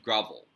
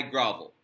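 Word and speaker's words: Gravel: I think I have settled on grovel as the pronunciation.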